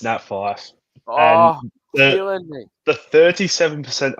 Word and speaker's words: Fyfe: It's a name that starts with an F, rhymes with rife, and might put you in strife. Who is it? It's Nat Fyfe.